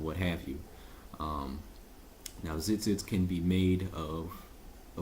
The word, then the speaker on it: tzitzit: extended spelling because we do know that it's pronounced zit zit you would spell it with a zai a